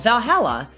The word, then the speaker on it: VA-11 HALL-A: she wrote about us the name va-11 Hall Dash a Valhalla the name sounds silly and a bit hard to pronounce good thing it's actually called Valhalla the funny numbers and